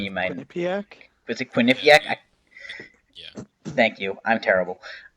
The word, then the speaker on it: Quinnipiac: I never know how to pronounce that. Ryan, you might. Quinnipiac? Was it Quinnipiac?